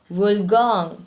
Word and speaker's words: Wollongong: Wollongong. Pronounce.